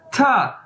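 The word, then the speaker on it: 他: word यह है और इसे बोलना कैसे हैं था और इसका मतलब क्या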